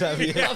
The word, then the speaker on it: Javier: It's Javier.